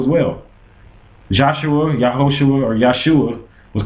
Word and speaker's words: Yeshua: They wouldn't pronounce his name like that. His name would have been Yeshua.